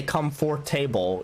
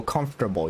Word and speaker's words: comfortable: when you're saying comfortable you don't say come forth table you you go comfortable you drop like the